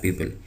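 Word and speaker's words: people: तो यह वही है पीपल तो इसको प्यूप नहीं पढ़ेंगे हम ये ओ को देख के बाज लोग इसको प्यूप पढ़ते हैं तो यह है पीपल तो वोकैबुलरी पीपल वोकैबुलरी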